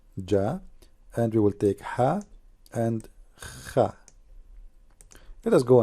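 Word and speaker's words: ح: The letter Ha does not have any dot at all. Ha. Now, how to pronounce letter Ha? Imagine yourself, you are getting cold and you are saying it's cold. That's Ha.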